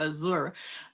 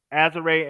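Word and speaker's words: Azurá: Her name right is Azare. Azure Stevens. Bro yeah, Claw be Azare. having me call her Azura.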